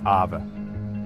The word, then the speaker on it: Aave: That's the world A is building. And today, I'm breaking down why A is Defi's real gamecher. First up, what exactly is AVA? Pronounced a.